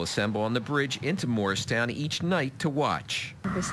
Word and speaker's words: Mauricetown: it Libby Truitt moved to Morristown it's spelled like the name Maurice 12 years ago she's